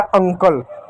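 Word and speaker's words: uncle: इ किसी भी शब्द के अंत में आता हो तो साइलेंट होता है। इ को नहीं पढ़ते हैं। तो हो गया अंकल।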